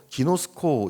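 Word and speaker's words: γινώσκω: 여기서 아는 것은 헬라어로 기노스코 이렇게 발음하는데요. 히브리어 야다와 정확히 같은 의미를 갖고 있습니다.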